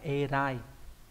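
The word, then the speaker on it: 偉い: Vĩ này trong từ vĩ đại đúng nhỉ, đọc là erai.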